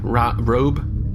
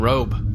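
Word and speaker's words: Röb: You know, with the ool out there, I think the pronunciation is actually rube, which is not very complimentary either. Yeah. Rob and rube both less desirable than robe.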